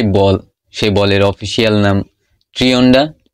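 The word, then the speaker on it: Trionda: অ্যান্ড এই world কাপের যে বল, সেই বলের অফিসিয়াল নাম ট্রিওন্ডা। In Spanish it প্রোনাউন্সেস like ট্রিওন্ডা।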